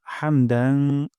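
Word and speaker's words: حمدا: তারপর হামদান, হা গলার মাঝখান থেকে যেন হা না হয়ে যায়।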